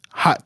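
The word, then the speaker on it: haute: And hot is spelled H-A-U-T-E, not H-O-T, H-A-U-T-E.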